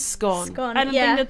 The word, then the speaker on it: Scone: So, but it also could be from a Scottish town called Scone, but it's pronounced Scone.